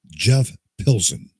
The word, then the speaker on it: Pilson: So from the Revolution Saints, the one and only Jeff Pilson.